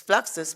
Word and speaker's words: Fluxus: fluxus and he said it's fluxus because it rhymes with fractures yes yes that's right